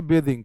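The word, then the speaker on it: bathing: सी सी इज बेदिंग इसको बोलेंगे बेदिंग please आप ध्यान रखना इसको बेदिंग पढ़ना है इसको बात थ का उच्चारण करेंगे याद रखना लगे हाथ भाई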